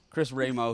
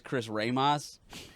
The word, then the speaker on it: Chris Ramo: And he mispronounced Chris's name. So Chris Ramo, he was on the podcast a couple episodes ago. But this dude says Chris Ramos. Like he's Yeah. like really Mexican.